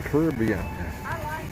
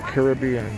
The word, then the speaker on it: Caribbean: I had the jerk chicken from the islands of the Caribbean, or Caribbean, depending on what accent you put on the syllable.